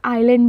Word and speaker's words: island: द्वीप, द्वीप को हम आइलैंड बोलेंगे इंग्लिश में ISLAND। आइलैंड, आइलैंड बोलने टाइम S जो होता है वो साइलेंट होता है, ठीक है।